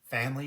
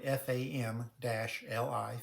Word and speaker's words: FAM-LI: Family is spelled F-A-M-L-I, FAM-LI.